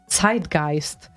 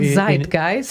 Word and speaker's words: zeitgeist: tell you as well it's zeitgeist it's not zeit guys yes well we are speaking english so we would say zeitgeist because that is how you pronounce the word in english no way yes way